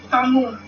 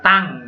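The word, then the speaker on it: tongue: Tongu. Tong. Nah, membacanya itu jangan tongu ya, tang gitu ya membacanya. Tulisannya tongwe, membacanya tang.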